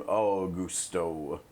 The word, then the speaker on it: Augusto: Did he pronounce his name like that? Augusto. See? For whatever reason, that's how they pronounce it in this game. Augusto.